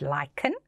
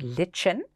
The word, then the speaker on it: lichen: so let's have a look at that word lichen it looks like it should be pronounced lichen but we pronounce it lichen lichens are very